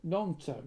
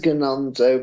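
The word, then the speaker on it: Gnonto: nonto nonto right sorry because it's a silent you're right but it's a silent G oh you're right yeah okay yeah you're right though it it says gonto but it's non right yeah sorry pero have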